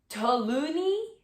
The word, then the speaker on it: toluene: Investigations into the making of scented candles show that most brands use paraffin, lead, benzene, and toluene.